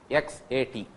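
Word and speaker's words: XAT: It is not SAT. SAT X A T.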